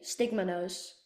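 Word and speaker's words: stigmonose: Stigma nose.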